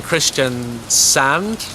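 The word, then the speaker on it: Kristiansand: probably pronounce that wrong in Christian sand not sun in Stanga and then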